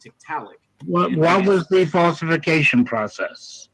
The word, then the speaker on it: Tiktaalik: What is the falsification process you went through to falsify whether or not Titulix or evolved from fish? What was it's pronounced Tiktaalik.